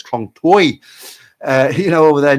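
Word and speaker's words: คลองเตย: wrong toy Tai person so it's not Kong toy it's Kong toy uh you know over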